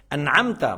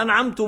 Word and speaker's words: أنعمت: An'amta, mon Seigneur. An'amta, c'est mon Créateur. C'est pas an'amtu, moi. C'est pas an'amti, toi pour la fille. An'amtu, an'amta, non. An'amti, non. An'amtu, non. C'est an'amta.